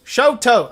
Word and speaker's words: Shoto: right it's not like chateau right i always mispronounce oh shadow shoot toe shoto okay it is a showtime let me explain